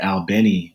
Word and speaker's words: Albany: Albany Georgia uh where locals pronounce it albanii Georgia you've had 125 death